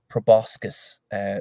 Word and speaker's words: proboscis: And inside each one of them is a tiny swarm of what looks like hideous proboscis spouting mosquito-like creatures.